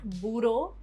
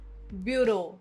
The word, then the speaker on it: bureau: Not bureau, bureau.